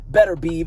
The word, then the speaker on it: Beterbiev: between demitry Bal versus aobb better be as some people pronounce it this is a